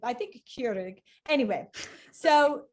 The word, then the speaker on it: Keurig: Keurig, that's Dutch, Keurig? right? Keurig. I don't know. Keurig is how Americans say it. I'm know. trying to say it in a Dutch appropriate way. I think Keurig.